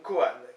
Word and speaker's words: koan: Et souper, donc koan, K-O-A-N.